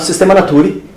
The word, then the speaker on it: Systema Naturae: Ele publicou um livro com o título em latim, chamado Systema Naturae, pronuncia-se dessa maneira em latim, onde uma das partes do livro ele tratava sobre como organizar esses seres vivos.